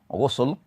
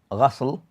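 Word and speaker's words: غسل: As for they mention that the word can be pronounced several ways, ghusl, ghasl, wa ghisl. So all of these pronunciation is correct and used differently.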